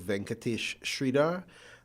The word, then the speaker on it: Venkatesh Sridhar: of cricket and management mines in form of venkatesh sridhara and and um correct me if i'm spelling if i'm pronouncing your names correctly or incorrectly um and